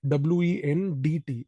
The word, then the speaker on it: Wendt: W-E-N-D-T. D is silent.